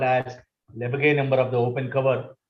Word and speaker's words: Lebesgue: This pronunciation is Lebesgue number.